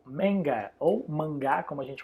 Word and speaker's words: manga: Então, mangá, ou em inglês se escreve do mesmo jeito, mas a pronúncia é um pouquinho diferenciada. Manga.